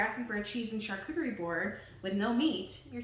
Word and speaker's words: charcuterie: So that's how you say it, by the way, is charcuterie. And the word charcuterie actually only refers to cured meats. It doesn't refer to anything else. So if you're asking for a cheese and charcuterie board with no meat, you're technically no longer